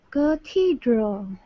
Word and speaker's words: cathedral: This is going to be a schwa. Oh. Cathedral. Wait. What is your schwa? What does your schwa sound like? And then this is the syllable that gets emphasis, and it has a long E.